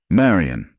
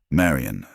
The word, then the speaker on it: Marien: and talking to myself, with the slight emphasis on the second syllable that is a habit I picked up from my father. It said, Marien, don't come in further.